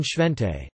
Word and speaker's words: święty: For example, the s in siwi, gray-haired; the c in siarka, sulfur; and the in shvente, holy, all represent the sound.